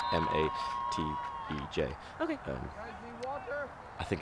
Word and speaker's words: Matej: It is Matej. I don't know if I'm pronouncing that correctly, but his name is spelt M-A-T-E-J.